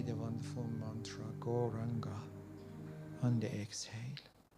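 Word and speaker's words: Gauranga: say the wonderful mantra goranga on the exhale goranga mantra has four syllables so we are going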